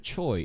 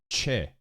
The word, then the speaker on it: Choi: And this here, instead of Choi, it's Che. How is it supposed to sound like though? Honestly, it would be like CHE, Che. That would be like a closer way of pronouncing this instead of Choi, but like, this is such a fucking bait.